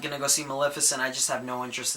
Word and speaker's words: Maleficent: The first one is Maleficent, or I've been calling it Maleficent until I watched the trailer in the theaters, and they said Maleficent.